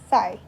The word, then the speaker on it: psi: So the sign which is used to represent this water potential is known as psi, where P is silent.